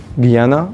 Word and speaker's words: Guiana: here okay you have French Guiana or ghena however you want to pronounce it okay you have got